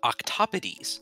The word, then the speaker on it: octopodes: It's actually Greek in origin. Oh. So, you know. It's it looks like octopodes, but with the Greek pronunciation, it would be octopodes.